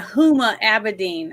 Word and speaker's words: Huma Abedin: Clinton stuff talking about uh Uma is it Uma Amadine? Is that how you say her name? Which one? Remember the woman that was like Hillary Clinton's uh assistant? Yuma Aberdine. Yeah. Huma Abedine.